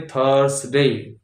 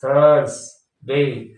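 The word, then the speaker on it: Thursday: करते ही करते हैं तो होना क्या चाहिए थर्सडे थ पदेन र के बदले क्या लगना चाहिए रेफ वाला र थर्स टी एच यू आर एस थर्सडे तो लोग क्या बोलते हैं थर्सडे यानी पदेन र लगा देते हैं थ में पद र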